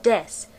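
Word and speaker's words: です: sentences is the word Des which is pronounced without the u Des is the Japanese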